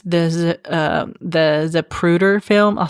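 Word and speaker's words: Zapruder: I'm probably going to get this name wrong, but it's the um the Zaprruder film. I'll spell it for you.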